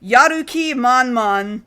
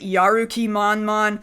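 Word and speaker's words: やる気満々: written in Roma G Yuki manman like the logo on one box says Yuki manman but they mean to pronounce it yaruki manman yaruki manman is totally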